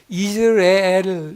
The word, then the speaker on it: 이스르엘: 이스라엘이라는 이름이에요 그냥 우리가 우리 한글 성경으로 보기에는 이스르엘 이렇게 나오니까 이스라엘의 사촌쯤 되는 거 같이 느껴지지만 실제 히브리어 발음은 이즈라엘 이렇게 되기 때문에 달라요 근데이 이스르엘이라고 하는이 단어의